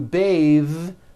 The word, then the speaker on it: bathe: But when you change it into a verb to bathe, the vowel changes to an a sound and the th is voiced. Bathe like in bathing suit.